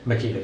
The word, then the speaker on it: Makita: Makita, yes, sir.